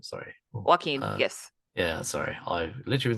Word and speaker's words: Joaquin: Arthur flick oh sorry say his name sorry Joaquin yes yeah sorry I literally been saying that